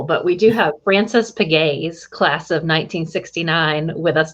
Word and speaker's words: Pegues: My mother made my father change the pronunciation of his name because she wasn't comfortable with it. She thought it sounded like little piggies, so she didn't like it.